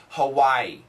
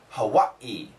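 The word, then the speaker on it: Hawaiʻi: The proper pronunci most Americans say Hawaii. Hawaii. Hawaii. But the proper pronunciation is Hawaii.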